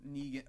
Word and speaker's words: Negan: Well, the thing about Negan too is that I feel Is it Negan or is it Negan? Negan.